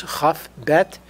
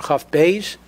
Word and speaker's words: Chaf Beit: 22 the number 22 is huff bet or cuff Bay's depending on which way you pronounce it and is very relevant